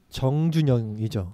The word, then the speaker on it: 정준영: 우선은 저는 그 정준영이죠. 네, 정준영이죠. 저랑 이름 똑같습니다. 전이 아니라 정준영이에요.